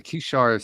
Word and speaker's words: Kishar: Tell us about the Kishar Spiritual Community. That's perfect pronunciation.